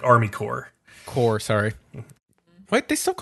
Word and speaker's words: Corps: week which is against corpse rules core rules like Army core core sorry wait they stuck on corpse don't they know they calm cool the P is silent it's a weird French thing I think it's a